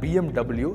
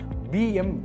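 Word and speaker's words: BMW: So number one பார்த்தீங்க அப்படின்னா அந்த பிஎம்டபிள்யூ. ஸோ இது ஒரு ஜெர்மன் பிராண்டு. ஸோ நம்ம இந்தியாவில் பேசிக்கலி பார்த்தீங்கன்னா பிஎம்டபிள்யூ தான் சொல்லுவோம். பட் ஜெர்மனில் இதோட ப்ராப்பரான இது பார்த்தீங்க அப்படின்னா பிஎம்வி அப்படின்னு சொல்லுவாங்க. எஸ்.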